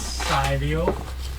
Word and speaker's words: Cy: Uh so my pronounce my my name as Sio.